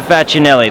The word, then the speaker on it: Facinelli: My last name is Peter Facinelli. That's how I pronounce it.